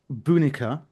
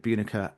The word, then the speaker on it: Bunika: Okay, so it is called Bunika, though some people may pronounce it Bunica, and it's set in 18th century Slovakia, specifically in the year 1712.